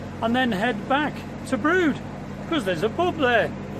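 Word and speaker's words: Brewood: coming into now is a place called brood but it's spelt b r e w double o d you've probably seen it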